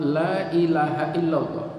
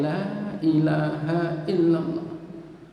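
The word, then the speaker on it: لا إله إلا الله: Satu yang perlu saya garis bawahi, orang mengucapkan kalimat la ilaha illallah itu bisa justru menjadi musyrik, ya, kalau cara bacanya salah. Misalnya la ilaha illallah, gitu. Adzan misalnya, asyhadu an la ilaha illallah, lahnya pendek.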